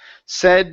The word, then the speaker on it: said: word said right here instead of saying s okay it's a short e sound said her dad said her